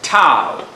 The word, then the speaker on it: tau: for you now tau is written like this pronounce it Tau so the rotational acceleration is rotational acceleration Alpha